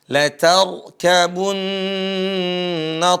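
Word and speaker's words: لتركبن: Latarkabun, roknya dibaca tebal. Latar, bukan dibaca latar kabun, bukan latar. Latar, gimana? Latar, ya seperti itu. Latarkabunna tabaqan an tabaqa.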